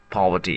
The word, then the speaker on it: poverty: In British English, the stress is on the first syllable Paul and the middle sound is soft and relaxed and the final T is light not sharp. So remember, poverty is a serious word,